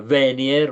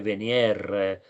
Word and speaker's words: Venier: C'è anche un altro cognome che spesso sento pronunciare come Venier, ma in realtà è Venier, è ovvio, no?